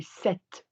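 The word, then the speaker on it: cet: If the word starts with a vowel, like man, we say set, C-E-T.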